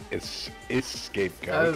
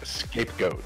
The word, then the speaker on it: scapegoat: I mean, I've heard scapegoat, but not escapegoat. Oh, is it scapegoat, is it? Oops. I've been saying it wrong for years. It's just scapegoat. Scapegoat, alright, I remember that. Not escapegoat.